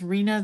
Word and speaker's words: Reena: with Arena day so her name is Reena that rhymes with Tina that's how I've always